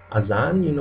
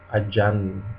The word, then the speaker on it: azan: And Z or Z is pronounced like in English, but a lot of Indonesians aren't able to pronounce it, and they replace it with the sound S or J, J. For example, the word azan, like the prayer, Muslim prayer.